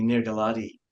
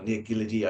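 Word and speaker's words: Nir Giladi: that we lost recently near Galadi um or near Giddy, I should pronounce it, um, from Tel Aviv, um, who we lost tragically um, way before his time.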